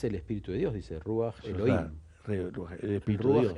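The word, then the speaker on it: רוח: Ahí en la tradición, de hecho dice Ruaj con acento en la U. Ruaj, Elohim, el espíritu divino,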